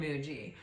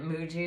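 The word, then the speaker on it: Mooji: And uh you know again if this is you I highly recommend Michael Singer and I highly recommend Muji for this particular ailment. Um Muji is spelled M O O J I.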